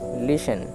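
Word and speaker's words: listen: আই এস টিই এন লিসেন এল আই এস টিই এন লিসেন solace টিটা silent থাকবে আর ই এন এন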